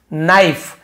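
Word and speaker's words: knife: और उसके चाकुओं से नाइफ के साइलेंट होता है कि हल्का से काट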